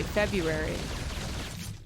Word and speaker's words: February: No one ever pronounces the R. It's supposed to be like January, February. There's no R. There's no two R's.